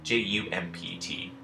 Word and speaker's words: jumped: H opt and jumped Ju MPT in this case the D is actually making the sound that we associate with the letter T now this isn't a